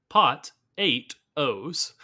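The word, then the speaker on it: Pot-8-Os: Pato. Pato! Or Pot 8 O's. Pot of O's. It's pot and then 8 O's, so Pot 8 O's.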